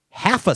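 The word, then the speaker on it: Hafa: It's spelled H-A-F-A Spot. Half-a. So it's not half H-A-L. Bless you. It's half-a.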